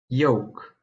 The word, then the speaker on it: yolk: The L is silent in the following words: half, Calm, palm, salmon, folk. yolk.